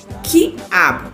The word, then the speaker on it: quiabo: Por exemplo, quiabo. Ouviu o som do U? Não. Quatro. Eu ouvi. Aquoso. Aquoso. Ouviu o som do U? Ouvi. Nessas palavras, a letra U é pronunciada? Sim, né? Por quê? Porque a gente ouve o som da letra U.